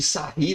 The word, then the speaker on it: Sarrus: Aqui nessa matriz 3 por 3, você já poderia mandar bala e fazer aquele determinante de Sarri, né, que o livro mostra pra gente, que se escreve Sarrus, né?